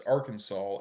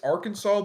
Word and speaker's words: Arkansas: Also, pronouncing it like that way is a crime in my state. Yeah, it's Arkansas. It's Arkansas, but you were right about Fagatville.